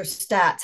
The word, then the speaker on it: Staats: Layla Staats, or Stats, how does she pronounce it? Stats.